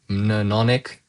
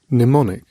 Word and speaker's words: mnemonic: I I I think it's called a manon manonic Yeah, so this word mnemonic mnemonic It's like a device such as a pattern of letters, ideas, or associations as system remembering something.